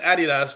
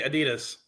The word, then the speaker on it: Adidas: what she just said she just said Adidas but we say Adidas yeah do you do